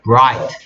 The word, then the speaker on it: bright: blight가 아니고 bright. 이렇게 혀를 뒤로, 얘 소리를 낼 때는 혀가 뒤로 말려 들어가야 돼.